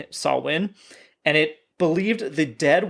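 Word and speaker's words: Samhain: Uh, for a festival called Sawin. Mhm. And that is H A M H A I N, but obviously pronounced Saw Sawin.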